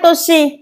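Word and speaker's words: 年: Chữ niên này chúng ta sẽ thấy có cách đọc là nên hoặc toshi, bộ can.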